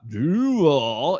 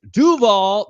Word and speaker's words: Duvall: lot for tuning in duall that's how you say it's not duall it's Duvall that's how you say it right say Duvall no thank you all